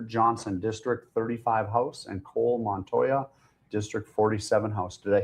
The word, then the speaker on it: Cole Montoya: Uh we have Taylor Johnson District 35 House and Cole Montoya District 47 House.